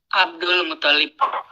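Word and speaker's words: عبد المطلب: Nah, kalau di Indo itu lamnya yang musyaddad kan ya? Iya, Abdul Muttalib. Abdul Muttalib, ya. Gitu kan? Iya, benar. Yang benar itu toknya yang ditasydid. Abdul Muttalib. Ya, jadi toknya yang ditasydid bukan lam.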